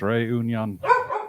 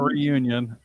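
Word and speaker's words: Réunion: a bunch of geocaches on it oh it's pronounced ray union right that's what i said that's what i said not reunion right union always okay okay i can't do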